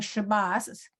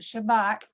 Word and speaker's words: Shabbat: no longer with us, was very insistent that on saying Shabbos or Shabbos is what he would say. Good Shabbos. Yeah. And his answer to anybody who said, no, Herman, now you pronounce it Shabbat, he would say, I'm not in Israel. Thank you very much. There you go. But today, everybody learns both of them as a T.